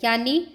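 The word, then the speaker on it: junho: Next है हमारा months of the year यानी उस मेजसदानु।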